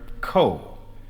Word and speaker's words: ko: his daughter in tow he would say to her CO as if it was spelled KO a single syllable and the little girl